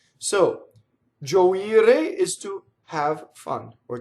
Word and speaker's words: gioire: Gioire, the accent is on the I. Gioire.